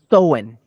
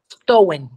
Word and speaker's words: Samhain: Entonces estábamos hablando del origen de la palabra Halloween y nos quedamos en, ¿pero cómo se pronunciaba? Samhain. Samhain, ok, es esa parte donde muere ese vacío, ¿no?